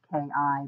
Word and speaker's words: Chi: Anyway, I'm also known as Kai, which is pronounced Ki, but I actually spell it Chi.